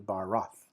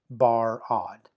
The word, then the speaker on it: barad: So that, for example, the two-syllable word barad, barad. Technically, I'm pronouncing it hard. It's really barath, barath, barath. It's a softer sounding D, right? It cannot be bar-odd.